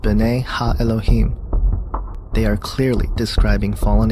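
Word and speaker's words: בני אלהים: of god mentioned here in the hebrew is pronounced bene elohim they are clearly describing fallen angels we know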